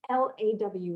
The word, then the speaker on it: law: that because you know that particular word l-a-w law I've heard it pronounced in so many unusual ways in Italy and Spain and in other languages and it really is literally the sound of l-o-r law very soft r at the end but that sort of